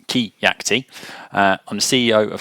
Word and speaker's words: Keacte: so who am I my name is it's pronounced ke yakti uh I'm the CEO